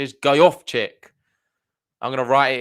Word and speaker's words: Gojowczyk: The pronunciation is Gojowczyk.